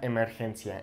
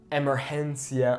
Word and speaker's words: emergencia: We have es una emergencia. It's an emergency. So it's not emergencia, emergencia, okay, it's emergencia. Okay, really focus on the vowel sounds, okay?